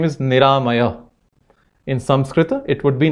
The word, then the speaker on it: Niramaya: For example, my son's name is Niramaya. In Sanskrit, it would be Niramaya. Four syllables, ni, ra, ma, yah. Begins with N, a sonant, ends in a visarga, yah.